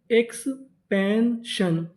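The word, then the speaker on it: expansion: SION को पढ़ते हैं शन। क्या पढ़ते हैं, शन। तो मीनिंग EX PAN इसे पढ़ेंगे पैन। क्या पढ़ेंगे, पैन। तो मीनिंग एक्सपेंशन, एक्सपेंशन, एक्सपेंशन।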